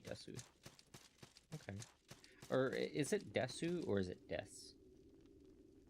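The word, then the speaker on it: です: Or is it Desu or is it Des? So Ogenki Desuka and Genki Des. Des. Okay. I always said Desu. I guess I've been saying it wrong my whole life.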